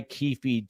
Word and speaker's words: Keefe: Keefe D was, that's Keefe to you, Keefe like Keith, like well, Keith.